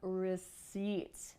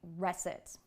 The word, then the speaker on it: receipt: asking not for a Reet but for a receipt did you get it did you understand that